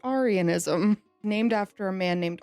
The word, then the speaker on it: Arianism: Aryanism. I'm choosing to pronounce it Arianism, named after a man named Arius.